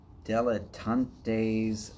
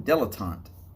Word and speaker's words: dilettante: okay i have found the rambling deletantes station or rambling dilettante that's how it's said now of course i